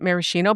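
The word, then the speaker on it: maraschino: I've always pronounced it marishino, but I could be wrong.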